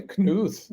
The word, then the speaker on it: Knuth: I want to pronounce it the German way, Knuth. That's right. You got it right.